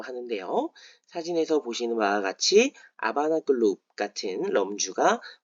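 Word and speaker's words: La Habana: 아바나 아고 할 때 h n 무음입니다 그래서 하바나라인 어 쿠바의 수도는 스페인식 발음으로는 라 아바라 읽는다는 점 그리고 영문 표기 조금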